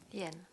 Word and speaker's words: Yen: Yen. Ouais, ça se prononce comme la monnaie japonaise.